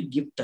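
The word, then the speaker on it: gift: ಇಲ್ಲಿ ಗಿಫ್ಟ್, ಜಿ ಆದ್ಮೇಲೆ ಆ ಇದೆ, ಇದನ್ನ ಜಿಫ್ಟ್ ಅನ್ನಲ್ಲ, ಗ ಉಚ್ಚಾರಣೆ ಮಾಡಿ ಗಿಫ್ಟ್ ಅಂತಂದು ಓದ್ತೀವಿ.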